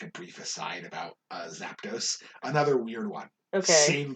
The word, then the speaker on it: Zapdos: question yeah same kid convinced it was zapinos what the like there's not a second a in there it's not z-a-p-a and he's like no